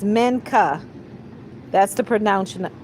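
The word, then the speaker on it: Minchah: I believe it's Mena and it's spelled M I N C H A H. Yes, it's Mena. That's the pronun pronunciation of it.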